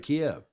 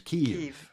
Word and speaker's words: Kyiv: But the Ukrainian pronunciation is Kyiv.